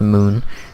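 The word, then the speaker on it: Mün: going to be kban mun flag which is actually pronounced Moon because there's two dots over the moon thing and the way you pronounce it is Moon not mun but I I'm not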